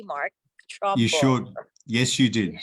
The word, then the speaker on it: Trumbull: Did I pronounce that correctly, Mark? Trumbull.